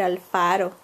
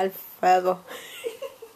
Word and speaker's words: Alfaro: No podía decir Alfaro. Decía Alfredo. Alfredo.